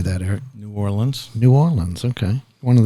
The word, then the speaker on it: New Orleans: Eric is with a Rigby Financial Group in N'awlins Louisiana how do you say that Eric New Orleans New Orleans okay one of those kind of